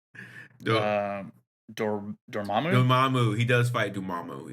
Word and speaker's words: Dormammu: Do- Um, Dormammu.